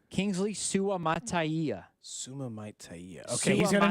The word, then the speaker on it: Suamataia: How is it pronounced? Kingsley Suamataia.